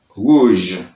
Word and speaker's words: rouge: Et nous gagnons l'autre mot encore, nous gagnons rouge, rouge, ouais, j, rouge.